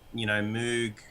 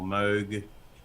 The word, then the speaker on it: Moog: Moog or Moog, however you want to pronounce it, is kind of famous for having its own Moog filter, which is a ladder filter.